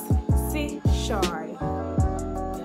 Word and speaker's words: Chesouye: The first question says, by the way, my name is Chesouye, and I know it will take time to get used to and to pronounce, but it's Chesouye.